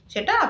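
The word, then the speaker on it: sept: seven সেথ seven সেট এখানে seven এর spelling হচ্ছে এস ই পিটি কিন্তু পি সাইলেন্ট থাকবে তাই উচ্চারণটি হচ্ছে সেট with eight with nine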